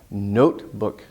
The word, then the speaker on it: notebook: wouldn't really make sense notebook notebook notebook the main part has more stress and it's a long vowel oh no oh that